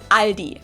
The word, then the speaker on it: Aldi: Or they also sometimes add an S that isn't there in the end and say Aldi. In Germany, we just say Aldi.